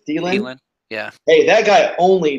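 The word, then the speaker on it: Adam Thielen: Thielen?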